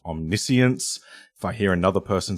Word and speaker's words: Omniscience: into play, and speaking of, this card is pronounced Omniscience. If I hear another person say Omniscience, Omniscience is fine.